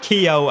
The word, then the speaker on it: Keogh: because Richard Keogh here, and it is Keogh, not Keogh, as the lads on Sky Sports say, like Andy Keogh. No, it's Keogh. That's how you pronounce it.